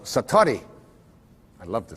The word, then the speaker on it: satori: it's called excuse my japanese but it's called satori i'd love to say that saturday s-a-t-o-r-i and